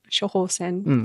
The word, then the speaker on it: 処方箋: Is it shohosen?